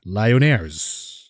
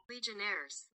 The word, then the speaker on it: Legionnaires: Lyonnaires. Hold on, I should look at the pronunciation for this one. Hold on. A few moments later. Legionnaires.